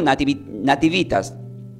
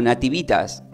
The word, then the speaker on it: Nativitas: el hebreo O sea desde el latín se pronuncia como Nativitas alg dice Natividad pero se pronuncia como Nativitas que significa nacimiento del latín del hebreo se